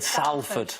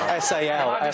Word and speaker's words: Salford: He said Salford. Well, it's spelled S-A-L-F-O-R-D. Spelled that way, but it's said. Did you say salt? Salford. No, salt.